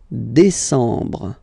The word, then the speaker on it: décembre: Décembre, décembre, décembre. Same thing. E-M en décembre.